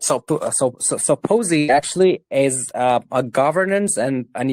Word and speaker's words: POSI: Is it pronounced POSI or POSI? How do you guys pronounce it? We pronounce it Posey.